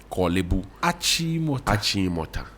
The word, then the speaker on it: Achimota: And so, when I get to know what the right pronunciation is, Kolebu, Achimota, Bubiashi.